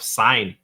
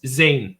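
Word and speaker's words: Sein: up the idea of Sign. No, it's Zane. Zane. It's weird how they pronounce his name in the anime.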